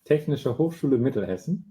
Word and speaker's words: Technische Hochschule Mittelhessen: He is a university lecturer for data protection and data security in medicine at the, Samuel, can you just pronounce the university? Technische Hochschule Mittelhessen.